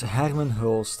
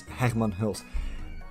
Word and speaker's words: Hermen Hulst: with PC and the PlayStation platform so PlayStation's Hackman host and yes that's how you pronounce that name I don't want to see